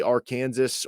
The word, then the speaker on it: Arkansas: the states are pronounced it'll either be our Kansas or it'll be Ken saw will be how you pronounce here in Kansas depending on who wins